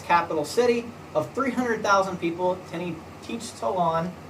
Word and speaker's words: Tenochtitlan: city of 300,000 people, Tenochtitlan. Okay, I believe that's how you say it, but again, pronunciation.